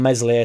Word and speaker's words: Meslier: know, gone in late on Meslier, silent S or whatever.